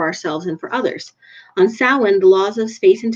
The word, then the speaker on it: Samhain: Samhain is pronounced Samhain, also known as All Hallows Eve.